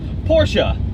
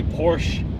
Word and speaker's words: Porsche: not super low girl Porsha not American just say Porsche I think it's actually the Germans actually put on something fortunate yeah like eh Porsche it they say it different but it's not Porsche it doesn't rhyme with porch no it's definitely not a porch and it is not